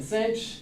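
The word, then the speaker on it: sinh: people pronounce things differently I will call that caution cinch some people will say Kos some people will say other things hyperbolic tangent tan the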